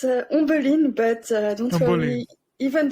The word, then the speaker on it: Ombeline: So is that a correct pronunciation? Ombeline? It's Ombeline, but don't Ombeline.